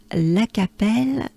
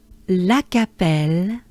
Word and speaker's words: Lacapelle: departure will be from la capelle well here we have one two three four four ah which is a the letter a in french is ah and it is pronounced ah so just um you